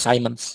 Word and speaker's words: Simons: Tapi Ibu boleh googling, boleh search di YouTube Jim Simons ya, Simons ya, bacanya Simons kan.